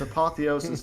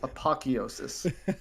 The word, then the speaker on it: apotheosis: to pronounce quantum apotheosis it's apotheosis not apocheosis get it right that's what i was